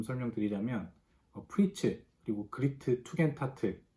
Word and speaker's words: Tugendhat: 우선 그 명칭에 대한 발음부터 한번 짚고 넘어가자면 투겐하트라고 발음되는 경우도 많이 있는데요. 독일어 같은 경우에 D자는 T자로 보통 발음이 되기 때문에 투겐트 하트, 뭐 이걸 줄여서 투겐타트 주택 이렇게 한글로는 표현을 하는 것이 맞을 것 같습니다.